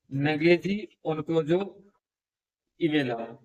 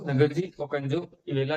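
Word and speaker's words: Ngozi Okonjo-Iweala: और इनके जो महानिदेशक हैं उनका नाम है नगेजी ओनकोजो इवेला। स्पेलिंग लिखना चाहते हैं तो लिखिएगा NGOZI। स्पेलिंग मैं आपको बता देता हूँ, NGOZI OKONJO ओकोंजो IWEALA इवेला। तो नगरजी ओकोंजो इवेला जो है इनके महानिदेशक हैं करंट टाइम में,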